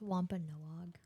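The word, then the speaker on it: Wampanoag: does want to be Cherokee AR is it pronounced Wampa noog yes okay I just wanted to confirm well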